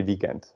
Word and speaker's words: weekend: But because this word is, we just took this word from English, we pronounce it sort of like in English.